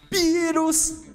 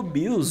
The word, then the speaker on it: Beerus: Beerus! 5 de custo, o Beerus de 15 mil. O Beerus, Beerus, porque o japonês não pronuncia o L direito, né? Aí fala com R, é tipo cebolinha.